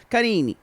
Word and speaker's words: Karine: Well, he actually says, when he says it, he goes, Karine. There's a little bit of almost an unaccented syllable at the end.